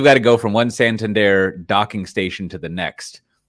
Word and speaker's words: Santander: San San Dar how do you say that Santander Santander uh sponsors it now so they're all